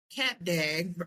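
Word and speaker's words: Cap d'Agde: And so Cap Dag that's am I pronouncing it correctly?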